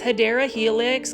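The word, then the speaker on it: Hedera helix: And take a look at this beautiful large hanging basket of Hedra Helix or the correct way to say it is Hideera Helix, guys.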